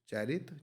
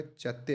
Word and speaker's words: चैत्य: चैत्य बोलते हैं, सॉरी, आई प्रोनाउंस चैरित, चैरित नहीं आएगा, चैत्य आएगा, प्रेयर हाल।